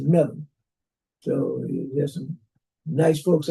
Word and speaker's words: Mebane: When you read it, it's spelled Mebane. And I was saying Mebane, but I was corrected. It's not Mebane, it's Mebane.